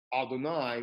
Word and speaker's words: Adonai: And we take the four-letter name and we pronounce it Adonai, which also gets translated as Lord.